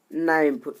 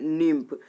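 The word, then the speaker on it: nymph: Option number C में क्या है, नाइम्फ। नाइम्फ मीन्स होता है सुंदर युवती। तो इसका हो जाएगा ए लवली यंग गर्ल। ए लवली यंग गर्ल मीन्स सुंदर युवती। इसका प्रोनाउंसिएशन क्या हो जाए, निम्फ।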